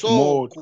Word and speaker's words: soko: But in Swahili, the first word comes from low intonation. So you say moto, soko, not the other way of moto, soko.